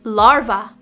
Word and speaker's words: larva: drought instead of draft larva this is often mispronounced as larvae if you're guilty of this one just change the v at the end to a sound larva the next word